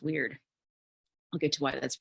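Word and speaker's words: wyrd: is coming to mind the word is spelled w-y-r-d pronounced weird I'll get to why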